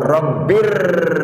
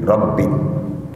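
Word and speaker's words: رَبٍّ: Begitu juga Rabbir Rahim, bir, bacanya bir, tapi ditulis dengan tulisan Latin nggak pakai R, pakai N, bin, Rabbin.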